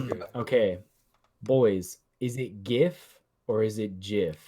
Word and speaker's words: GIF: of them basically said he designed it so that it was pronounced GIF. That is the proper pronunciation that he created it with. You And literally you should have spelled it with a J.